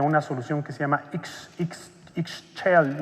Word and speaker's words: Ixchel: Creó una solución que se llama Ixchel, no la pronuncio muy bien, IXCHEL, Ixchel.